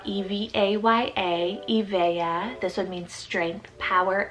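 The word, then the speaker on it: Evaya: truth i have the name evaea spelt e-v-a-y-a e-veya this would mean strength power and energy second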